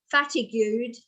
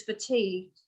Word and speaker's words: fatigued: to spell a word like this you can pronounce it wrongly and say something like fatigued because then you never forget that you're actually